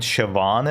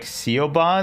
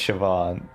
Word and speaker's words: Siobhan: Um, but there's a character named Siobhan in it, but I didn't know how to pronounce Siobhan. So, every time I read it, it was like Seoban, and I'm like, hm, is this character from like Asia?